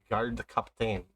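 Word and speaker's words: Gardkapten: bullfrog it's fine yep his name is spelled g-a-r-d-k-a-p-t-e-n guard cup thing it's german so hmm how do we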